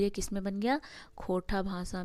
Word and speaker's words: खोरठा: भाषा मानते हुए इसे खोरठा खोरठा खोरठा भाषा की संज्ञा देते हैं मतलब कुछ लोग जो इसको सही से उच्चारण नहीं कर पाते तो खट्टा बोलते हैं खोटा बोलते हैं वहीं कार्यक्रम में अगर